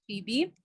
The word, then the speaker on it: Phoebe: honestly my name has okay personally i pronounce it as phoebe but of course being from an african country it has so many pronunciations people pronounce my name in so many different ways i'm phoebe i'm i'm i'm um like it's something